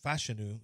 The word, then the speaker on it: Fashanu: I don't know Olu fashanu fashanu is how it's pronounced is not Malachi Cory